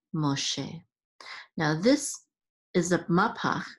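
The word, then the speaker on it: משה: Catan so this is mache the accent is on the last syllable and mache is of course Moses in Hebrew so by yo man I deny l ma che now this is AB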